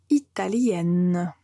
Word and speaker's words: italien: l'Italie une personne qui habite en Italie et italien si c'est un homme italien si c'est une femme on va dire italienne donc là c'est la règle dont je vous